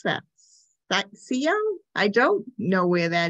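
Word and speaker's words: Scio: I don't know how to pronounce that. Sio? I don't know where that is in Oregon. Yeah, it's Sio.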